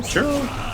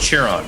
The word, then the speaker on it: Chiron: got uh what's the God's name is cherro churro oh now I'm forgetting how to say it